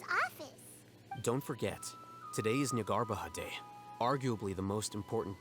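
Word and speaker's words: Jnagarbha: Don't forget, today is Nyagarbaha Day, arguably the most important day to the academia. Ñagarbaja. Así se pronuncia.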